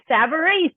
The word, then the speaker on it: Savarese: I'm super excited to introduce you to Savarese. Is that how you say it? Savarese, you did great.